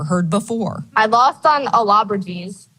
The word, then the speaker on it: Allobroges: I lost on Allobriges. It's spelled ALLOBROGES.